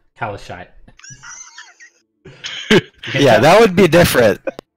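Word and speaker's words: Calishite: Not Kalshite, but Kalashite.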